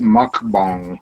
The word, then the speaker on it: mukbang: It's So, pronounced mukbang.